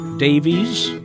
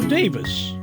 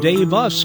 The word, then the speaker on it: Daviess: any way we want davies or davis even though davies is correct the other day i heard someone call it dave us county it would seem